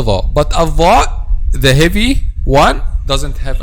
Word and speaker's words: ظ: mistakes when pronounced letter dha. As we said, the common mistake when pronounced letter dha is to make the tip of the tongue turns back and then pronouncing letter zay instead of letter dha.